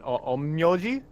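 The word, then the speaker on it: 陰陽師: Oh, it's more of an M sound, but omyoji.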